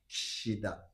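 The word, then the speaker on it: 岸田: Therefore, his name is Kishida-san. Oh. Kishida. It's a bit difficult, but let's try together.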